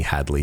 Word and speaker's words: Hadley: far as I'm concerned you pronounce my name absolutely correctly Headley you might have said Hadley is slight accent but as far as I'm concerned you know you you said my name correctly so you should be